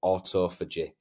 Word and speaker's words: autophagy: aging and increase longevity now that is a tricky word but I've uh made sure before I did this video that that is how you say it um autophagy uh so if you